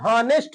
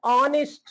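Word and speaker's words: honest: तो गलत हो जाएगा इसको बहुत लोग नेस्ट बोलते हैं हालाकि नेस्ट नहीं है य इसको बोलते हैं बोलने में प्रोनाउंस इसका होता है ऑनेस्ट ऑनेस्ट यानी क्या होता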